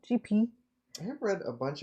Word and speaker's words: Gipi: I've read a bunch of um I'm going to pronounce it J GP according to the internet pronunciation GP I have read a